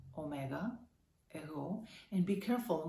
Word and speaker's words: εγώ: And that's εγώ. Εγώ. You know it, right? Be careful, the accent is on O. Εγώ, omega, εγώ.